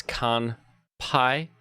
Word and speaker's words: Kanpai: and a beautiful Kanpai that's con pi k-a-n-p-a-i here to spell it in English Japanese Texas Chainsaw man